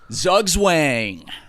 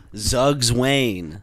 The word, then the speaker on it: Zugzwang: The word of the week is Zugzwang. Zugzwang. Zugzwang. And did you press the pronounce button? Well, I have it typed out on how it's pronounced, and it says Zugzwang. Zugzwang. Zugzwang. Because it's German.